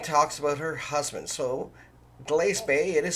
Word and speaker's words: Glace Bay: If you're not familiar with pronunciation of communities, it's not Glace Bay, it's Glace Bay.